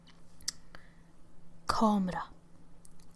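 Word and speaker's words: kamera: let me fix my ha let's go with comra comra can you guess what that is yes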